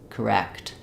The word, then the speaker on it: correct: same idea incorrect um our stress falls on the wrecked syllable which means our c is just going to be short with a very reduced vowel for words like these